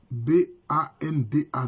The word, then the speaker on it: Banda: Bana ça s'écrit avec B A NDA donc ça s'écrit avec banda ça s'écrit banda mais ça se lit band mais les mêmes sonfou